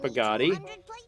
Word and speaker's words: Bugatti: And that's the creation of Art Bugatti, who was created solely to rhyme with naughty.